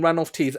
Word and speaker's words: Ranulph Tees: you know your name ran off teeth am I pronouncing it correctly yeah that's absolutely right but you can call